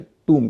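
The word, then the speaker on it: tomb: तो डब्ल्यू ओ एम बी या टी ओ एम बी आखिर में बी का उच्चारण तो नहीं होगा क्योंकि एम के बाद बी है और शब्द के आखिर में है। लेकिन ओ का उच्चारण यहां पर उ होता है।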